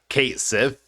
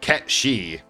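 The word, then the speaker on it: Cait Sith: But now remember when Square Enix tried to say that like the Final Fantasy 7 character is pronounced uh Kate Cith.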